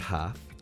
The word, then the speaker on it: half: just the letter B in the word half the L is silent in listen the t